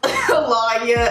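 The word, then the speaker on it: Alonya: But if you don't know who I am, my name is Lawya, and on YouTube it is spelled L-A-W-N-Y-A-H. But in real life it is spelled A-L-O-N-Y-A.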